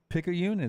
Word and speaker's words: Picayune: that right Lunsford wow pick a union is correct I think you know